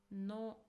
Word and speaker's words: の: No. No. So this is a modifying particle. It is pronounced as no and it indicates possession.